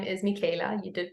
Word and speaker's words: Michaela: thank you so much uh my name is Mika you did pronounce it right um I am a shaman